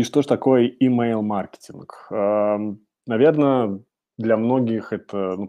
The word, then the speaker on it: email-маркетинг: сделать акцент что всё-таки правильно произносить как и mail и маркетинг ударение на А в принципе можно говорить как угодно но Давайте стараться как бы делать это правильно Поэтому email маркетинг ударение на первый слог и сегодня мы поговорим